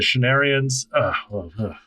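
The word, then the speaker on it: Shienarans: Rand emerges from the tent and is hailed by the Shenarians. That's how you pronounce that word. Rand emerges from the tent and is hailed by the Shenarians as the Dragon Reborn.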